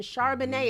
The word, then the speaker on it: Charbonnet: Charbonnet, it's kind of like the wine.